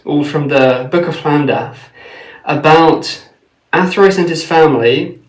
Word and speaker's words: Llandaff: Because there are many records, all from the Book of Llandaff, about Athrois and his family giving donations of